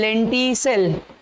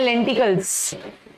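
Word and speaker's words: lenticels: पढ़ेंगे, इट is called लेंटी सेल. हमको लेंटिसेल दिख रहा है ना, इसका प्रोनाउंसिएशन क्या है, लेंटिकल्स, लेंटिकल्स. ठीक है, तो these are लेंटिसेल्स which are small pores, किसके लिए, फॉर एक्सचेंज ऑफ गैसेस.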